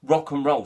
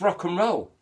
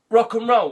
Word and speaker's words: rock and roll: And that's pronounce rock and roll separately, like it's three separate words, rock and roll. It's rock and roll, like one word, three syllables.